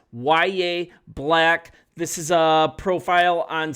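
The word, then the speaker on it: Yahya Black: I mean, yes, it's pronounced YA Black.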